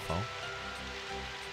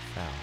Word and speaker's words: ファル: I will always be by your side, Fall. Or Foul, she just said. Foul. Dang it, I've been saying it wrong the entire time.